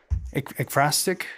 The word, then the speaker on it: ekphrastic: And we talked about this one last time, if y'all recall, as the ekphrastic, is it, Richie? The pronunciation? Yes. Yeah.